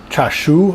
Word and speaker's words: chashu: cool dish it's called um cha shoo i think that's how you pronounce it it's c-h-a-s-h japanese pork is basically